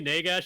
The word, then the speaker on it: Nagash: Here, it might rhyme with this word. Dash, right? Okay. It's not gosh.